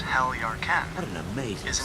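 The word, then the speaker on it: Heljarchen: The name Heljarken, pronounced Heljarken, What an amazing is an city.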